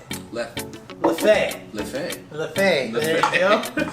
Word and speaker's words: Leffe: Although I'm pronouncing that in sort of Spanish. It's Jeffe. I think that's an L. Oh, I it's believe an L. Leffe.